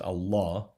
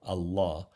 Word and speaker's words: Allah: say the word is actually pronounced allah with a doubled l allah and emphasis on the second syllable right but i want